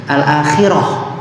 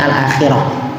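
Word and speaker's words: الآخرة: Kemudian jumada ala al-akhirah. Ya, karena apa? Karena jumada muannas, makanya pakainya al-akhirah bukan al-akhir ya.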